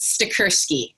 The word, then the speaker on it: Stachurski: My last name is pronounced Stachurski. So it's a hard CH, like Michael in school.